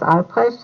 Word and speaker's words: Albrecht: pure Discussion Group uh what is the correct pronunciation of your name hello my name is Mrs ales and the spelling is a l b r